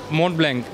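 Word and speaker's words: Montblanc: मो ब्लैंक मो ब्लैंक हां मो blank how इज it pronounced मोबला मोब मोब यस एक्सक्ट्ली इसमें इसमें दो जो है लेटर्स वो साइलेंट है बिल्कुल लास्ट लेटर भी साइलेंट है और मॉ इसको टी भी साइलेंट है एंड देन के इज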